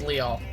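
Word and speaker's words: Lyall: last out blade uh leol that's how I pronounce his name I don't care if that's not how it's supposed to be pronounced it's leol l y a l l and I could have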